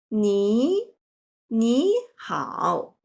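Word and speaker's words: 你好: For example, 你好. The first character originally is 你, but here changed to 你好.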